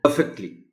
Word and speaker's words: perfectly: Won't, it's a short form of would not, but it's pronounced as won't perfectly. सिवाय इसके के P पर stress है, there's nothing special about this word.